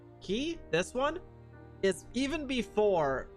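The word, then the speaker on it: χ: This is the X is pronounced key, hence the keyblade.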